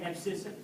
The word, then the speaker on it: abscissa: That's the way you say it, abscissa.